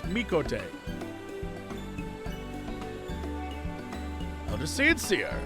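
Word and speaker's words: Mikoto: Anna, it is Mikote. That's how you say it. Mikote. It is, if you watch Star Trek, it's like Chakotay, the character, except it's Mikote.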